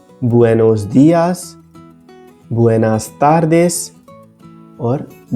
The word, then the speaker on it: buenos días: से दोहराते हैं लेकिन ध्यान रखिए कि इसमें सही उच्चारण ब होता है ना कि ब्यू इसलिए बुएनोस दयास बुएनास तारदेश और